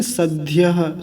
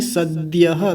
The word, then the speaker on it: सद्यः: अब यहाँ गलती होती है, इसको बोल देते हैं सद्यः, सद्यः गलत है, ध्य नहीं सद्यः, द होता है बीच में।